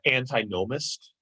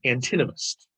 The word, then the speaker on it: antinomist: use would be um anti-gnomist or i should pronounce it this way an antinomist right antinamist anti we all